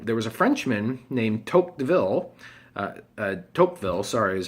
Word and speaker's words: Tocqueville: And so there was a Frenchman named Tocqueville, is how you pronounce his name, and he came and he went all around the U.S.